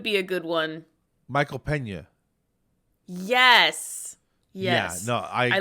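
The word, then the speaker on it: Peña: do you say it pena pena okay it's the end with the sound thing over the top you know yes there's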